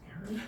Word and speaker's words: Aaron: Because it's pronounced Aaron.